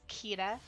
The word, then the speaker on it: Kira: That's exactly where I got my pronunciation from. It's Kira.